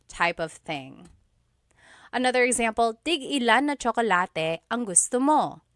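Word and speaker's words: tig-ilan: So tig ilan, when there's a hyphen in it, you have to have that glottal stop. Tig ilan. That means how many of each.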